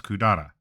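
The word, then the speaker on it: 百済: reading later on, and there are plenty of place names that use that reading as Kudara. Still, I'm not absolutely certain when that reading became common, but that is how these kanji are often pronounced today for whatever reason.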